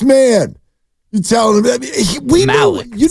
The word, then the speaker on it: Malik: Wait, Grandy, did I pronounce that right? Yeah, it's Malik.